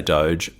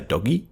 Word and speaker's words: DOGE: a different prononciation um I would say doge my dad would say doggy Department of government efficiency